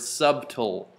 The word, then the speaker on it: subtle: sub implying that but not so sub that I'm pronouncing the b in the word subtle real numbers so uh someday